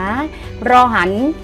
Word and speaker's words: ร หัน: หมาย นะ ลูก นะ รอ หัน อ่าน ว่า รอ หัน นะ ลูก รอ หัน อ่าน ว่า รอ หัน เรา ไม่ อ่าน ว่า รร นะ ร้อน ว่า เรา